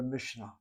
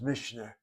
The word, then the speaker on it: Mishnah: One is called the Mishnah. Some people pronounce it as Mishnah. Mishnah. Mishnah with a kamatz. Though the pronunciation Mishnah is also found among the Ashkenazim. The word has two syllables.